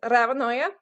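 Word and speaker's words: Ravnøye: It's Ravnoye. It's Ravnoye in Norwegian, so the O should have a slash.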